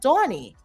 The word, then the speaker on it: Donnie: You say it almost right, but it's pronounced Donnie.